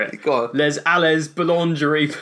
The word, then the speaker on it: boulangerie: Boulangerie like lingerie.